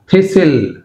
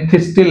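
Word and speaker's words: thistle: థిసిల్, థిసిల్ అంతేగాని థిస్టిల్ అనకూడదు, థిసిల్. ఫాసెన్, రైట్, ఫాసెన్ అంతేగాని ఫాస్టెన్ రాదు ఇక్కడ, చూడండి ఫాసెన్, టీ ఇస్ సైలెంట్, ఫాసెన్.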